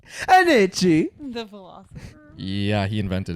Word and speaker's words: Nietzsche: It's pronounced Nietzsche. Nietzsche.